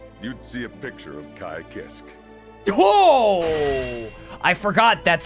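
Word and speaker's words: Ky Kiske: in my dictionary you'd see a picture of kai kisk whoa i forgot that's how they say it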